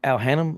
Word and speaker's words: Al Hannum: you put me onto Al Hannum, is it Al Hannum?